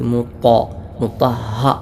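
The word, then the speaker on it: مُطَهَّرَة: സുഹഫൻ എന്നല്ല സു സ്വാദാണ് മുഹറ മുത്ത ത് ആണ് ത ആയി മുത്ത എന്നല്ല ഉച്ചരിക്കേണ്ടത് മുത്തഹ ഹയിലെ ശബ്ദും പ്രത്യേകം ശ്രദ്ധിക്കേണ്ടതാണ് റസൂലും മിളാഹമ അടുത്ത ആയത്ത്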